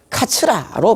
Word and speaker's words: 桂: 중국에서는이 나무를 영향수다 부르고 일본에서의 나무를 게를 쓰고 카츠라로 발음한다고 합니다 계수나무는 바로 일본의 한자